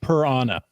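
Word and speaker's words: prAna: certain Lackey that loves I believe it's pronounced per Anna p-r-a-n-a I'm not famous p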